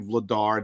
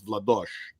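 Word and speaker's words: Vladař: about Czech they know that it's not Dan Vladar, it's Dan. It's Vladosh. Yeah. the actual pronounce of the last name William Nander.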